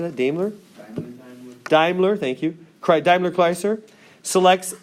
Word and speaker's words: Daimler: Daimler, thank you.